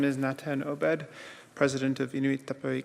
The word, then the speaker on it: Natan: As I've been introduced, my name is Natan Obed, President of Inuit Tapiri Kanatami. And just as Mata had said earlier, why I'm Natan is because there aren't H's in our language.